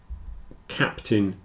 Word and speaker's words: captain: an e curtain certon whereas these two captain and Mountain it's a little more like an I but for the same reason the stress is on the first syllable the second syllable is contracted down a bit so in all four